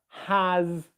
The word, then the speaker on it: has: it's new for you start by just practicing these words here his is has was and make sure that you're able to pronounce a z sound z sound after the vowels okay um does that